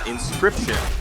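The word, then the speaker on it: Inscryption: It is called Inscription, but it's spelled with a Y.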